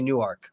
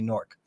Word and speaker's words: Newark: real pronounce the a we don't say Newark we say Newark Newark yeah New Jersey